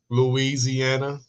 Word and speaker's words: Louisiana: You pronounce it right with the I.